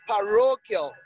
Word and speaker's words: parochial: Now, so the answer to that question is actually parochial. Parochial. So the stress is on ro. Parochial.